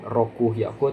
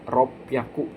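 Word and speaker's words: 六百: Lalu untuk angka yang 600-nya itu e bukan roku yaku tapi ropyaku pakai P teman-teman ya.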